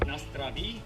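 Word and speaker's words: na zdraví: It's pronounced Nastravi.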